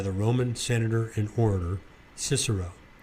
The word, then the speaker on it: Cicero: roman senator and orator cicero i read somewhere that that's properly pronounced kikro i'm not sure that